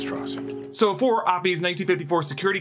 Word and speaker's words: Strauss: it comes to Strauss versus Strauss Strauss it's pronounced Strauss so for op's 1954 security clearance hearing Strauss